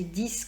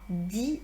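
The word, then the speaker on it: dix: donnez-moi 6 boudins blancs, tout simplement parce qu'après ces chiffres qui se terminent par X, il y a un nom. Donc, si j'avais dit donnez-en-moi 10, j'aurais pu prononcer 10 comme d'habitude parce qu'il n'y aurait rien eu après.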